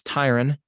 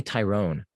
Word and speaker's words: Tyron: video with uh tyra i know it's tyron okay but it i want to say tyrone okay but i know